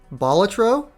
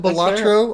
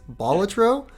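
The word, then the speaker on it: Balatro: hold with me here batro I'm saying it the way that I've been told is the proper way to say it I called it batro all year apparently it's batro um okay the Rog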